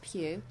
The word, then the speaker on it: Pugh: So the swimmer who can change his own body temperature is called Lewis Pugh. P-U-G-H, so that's Pugh, let's rhyme with Hugh.